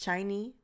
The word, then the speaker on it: SHINee: albums from that's how you say it it's shiny i have olive effects not all of the